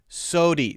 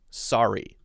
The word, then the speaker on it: sorry: open okay there again watch the r sound saudi sodi there the d is replacing the r d instead of r right so that would